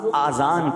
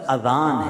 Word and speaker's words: اذان: نیکیاں کما سکتے ہیں۔ بعض لوگ آذان کہتے ہیں، یاد رہے پہلے اذان کہتے کس طرح ہے، اس کا تلفظ سے بچ لیں۔ آذان اذن کی جمع ہے، اذن کہتے کان کو، یہ آذان نہیں ہے، یہ لفظ اذان ہے، ٹھیک ہے۔ اور اذان